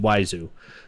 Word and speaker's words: Wiseau: It's like Oiseu or something like that, and he puts a W in front of it, but it's pronounced Wiseau.